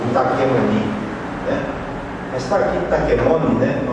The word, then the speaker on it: Taquemoni: Mas tá aqui Taquemoni, né?